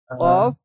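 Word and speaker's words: ك: কফ কাফ কাফ কাফ কাফ উচ্চার একদম পাতলা হ্যাঁ আর কফের উচ্চারণ একটু শব্দ গলার ভিতর থেকে একটা শব্দ আসবে কফ কাফ কাফের উচ্চারণ একরকম উচ্চারণ গুলো একবার আমরা যদি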